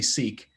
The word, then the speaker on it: Sikh: in it also they they say seek uh to help americans actually pronounce the word but if you speak to people from that community it's sick um but he told